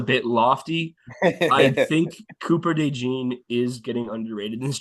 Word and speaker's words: DeJean: Yeah, Oh, I I think also that's see you forgot about the Cooper DeJean right here, or DeJean. Is that how you say his name? yeah.